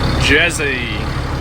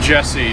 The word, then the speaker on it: Jesse: aussie mode and so my name tag given the bus is jezzy it's uh jesse is my real pronunciation but i just had